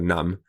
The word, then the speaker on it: numb: It's so cold outside that my hands are numb. Il fait tellement froid dehors que je sens pas mes mains. D'accord? They're numb. The B is silent. Okay? So N-U-M, you stop on the M. Numb.